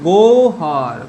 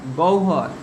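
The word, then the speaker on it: গহ্বর: যেমন উদাহরণ দেখো এবার, গ হয় ব র, এটা আমরা কি রকম উচ্চারণ করব? এই উচ্চারণগুলো আমরা অনেকেই ভুল করি। এটা কিভাবে উচ্চারণ করব? দেখো দেখো আমি কি বলেছি, হয় বয়ের আগে কি উচ্চারণ হচ্ছে? গয়ের অ উচ্চারণ হচ্ছে। তাহলে অ উচ্চারণ হলে কি হয়? ও হয়। তাহলে কি বলবো আমরা উচ্চারণ? গৌহর, গৌহর। এটা উচ্চারণ করব গৌহর, গৌহর।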